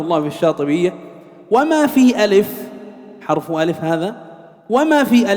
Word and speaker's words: ألف: انتبه، بعضنا يقول أليف أليف ألف، كله سنة ألف لا مد فيه.